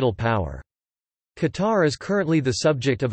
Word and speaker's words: Qatar: Eventually, after several variations Qatar, Qatar, and Qatar, the modern derivative Qatar was adopted as the country's name. In Standard Arabic, the name is pronounced Qatar, while in the local dialect it is Itar.